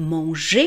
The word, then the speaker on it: manger: qui disent\mɑ̃.ʒɛʁ\ pensez bien que c'est faux, c'est manger \mɑ̃.ʒe\ et nous avons le son \swa\ qui